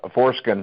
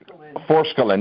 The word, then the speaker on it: Forskolin: The Transfigure and the Foreskin, is that what it's called? Forskolin, yeah, Forskolin.